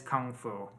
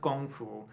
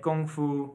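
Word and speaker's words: 功夫: no such thing as comfo okay it's it's pronounced gongfu and it it doesn't matter how we spell the character using our letters it doesn't change the Chinese pronunciation right or the Chinese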